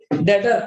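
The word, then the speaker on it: debtor: वैसे लॉजिक बताया था, कृष्ण डेबिट है तो आपका डेटर, डेटर ना बोलना, B silent, डेटर, डेटर means asset, हमने उससे पैसा लेना है।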